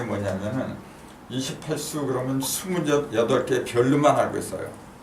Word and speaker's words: 28수: 하늘의 별자리가 28숙이라고 해야 돼요. 수라고 해야 돼요.